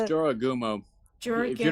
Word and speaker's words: Jorogumo: By the way, it's Uh, Jorogumo.